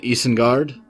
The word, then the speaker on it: Isengard: does it for uh eastern guard which is how fenris pronounces it and that's how i'm going to pronounce it although i'll probably slip up and say eisenguard sometimes whatever i guess it's